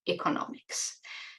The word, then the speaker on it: economics: in the field of Economics notice the difference in pronun iation word stress economics and Economist so these words also